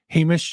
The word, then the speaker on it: Hamish: I am about it we're going to welcome Hamish I hope I'm saying it right and if